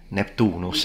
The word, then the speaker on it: Neptunus: to Italian uh what happens in classical Latinos neptunus and I believe the uh the the O